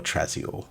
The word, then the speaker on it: Trazior: the underhives of Hive Trazior, or Trazior, as it should be pronounced.